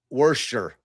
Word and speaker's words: Worcester: It's a Worcester. Get rid of the R. Worcester. Yeah. Worcester. Why do you have the R in there then?